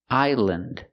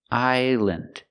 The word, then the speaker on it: island: We use the short sound, island, island. And remember, the S is silent. Don't pronounce the S. Again, island.